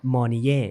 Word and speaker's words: Mornye: ก่อน นะ ครับ ว่า ตัว ของ ชื่อ นี่ เนี่ย จริง ๆ ทราบ แล้ว ว่า อ่าน ว่า มน่ อ่าน แบบ ถูก ต้อง